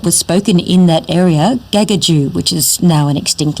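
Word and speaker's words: Gagudju: Kakadu is actually, here's your hot tip for the day, Kakadu is actually a mispronunciation by non-Indigenous people of a language that was spoken in that area, Gagaju, which is now an extinct language.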